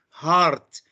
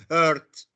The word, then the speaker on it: heart: Okay, heart is qalb, yes, but it is pronounced, it is said heart, not hurt.